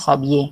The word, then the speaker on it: s'habiller: Kata kerja aslinya adalah s'habiller, di mana di dalam kata kerja s'habiller ini, dia S-nya tidak dibaca dengan se, tapi dibacanya s'habiller, gitu ya.